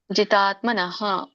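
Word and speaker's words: ಜಿತಾತ್ಮನಃ: ಬರುತ್ತೆ ನೋಡೋಣ ಜಿತಾತ್ಮನ ತಕೆತ್ತಿದೆ ಜಿತಾತ್ಮನ ಹರೇ ಕೃಷ್ಣ ಮತಜಿ ಮ್ಯೂಟ್ ಮಾಡಿಕೊಳ್ಳಿ ಜಿತಾತ್ಮನಹ ಸೋ ಇಲ್ಲಿ ನಾವು ಅಲ್ಪವಾಗಿ ವಿಸರ್ಗ ಹೇಳಬೇಕು ಪೂರ್ಣ ಹೇಳಬಾರದು ಜಿತಾತ್ಮನಹ ಅಂತ ಪ್ರಶಾಂತಸ್ಯ ಶೋಕೆ ಅನುಸ್ವಾರ ಇದೆ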